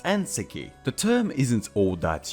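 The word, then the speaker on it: 燕石: get what it means we need to turn its pronunciation around and instead pronounce it the way the Chinese people would which would give us aneki the term isn't all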